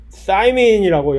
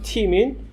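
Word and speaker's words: thymine: 아데닌, 구아닌, 출석, 사이토신이라고 영어로 발음하는 사이토신, 시토신, 사이민이라고 영어로 발음하는 티민.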